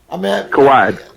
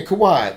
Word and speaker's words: Kawhi: Kawhi. Yeah, Kawhi.